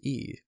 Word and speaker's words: y: It's E. Y. It's letter Y, but it's pronounced E.